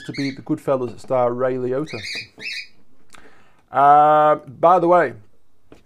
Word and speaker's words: Ray Liotta: also just happens to be the goodfellas star ray leota uh by the way ray liotta if you've ever seen the movie hannibal um